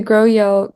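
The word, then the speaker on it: GroEL: versions of this this complex and basically the grow yel grow yes complex so the way you spell that is gr R and then capital e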